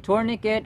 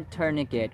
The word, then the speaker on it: tourniquet: cataclysm of flood cataclysm tourniquet or tourniquet we have two acceptable pronunciations tour long u tur shwa tourniquet tourniquet yada yada Vanessa